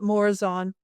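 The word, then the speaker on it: Morazán: I call it Morazan. That's the English pronunciation.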